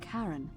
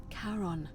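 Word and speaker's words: Charon: it's just as you described it only your pronunciation is a little off the name you heard wasn't Karen it was c h a r o n as in karon the Fairman of the dead that's the plat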